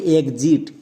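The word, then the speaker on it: exit: এর উচ্চারণটা হবে এক্সিট।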